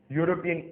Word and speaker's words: European: से शुरू होता है, लेकिन फिर भी इनके आगे एन नहीं लगाएंगे क्योंकि ये शब्द जब शुरू होते हैं तो य से शुरू होते हैं, ना कि वावल यू से।